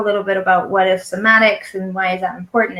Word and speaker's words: somatics: Somatics, not semantics, somatics.